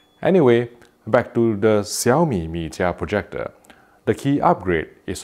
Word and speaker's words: Mijia: Note that I am pronouncing Xiaomi Mijia in the correct Chinese pronunciation, not because I know Chinese, but because it's the right thing to do.